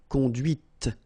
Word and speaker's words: conduite: And that's when you hear the difference between conduit, because remember, final T is not pronounced, conduit, here, and then the feminine, conduite. Okay, so here you can listen to this t, okay, conduite. All right, c'est la voiture que tu as conduite.